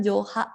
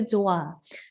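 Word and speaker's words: 좋아: Jadi bukan Joha gitu ya, tapi Joa. Dibacanya Joa. Kenapa? Karena si H itu tuh gunanya tuh kayak menambahkan angin gitu loh di dalam suatu suku kata. Nah, jadi misalnya ada kata Joh, itu dibacanya Joa. Joa. H-nya kecil aja.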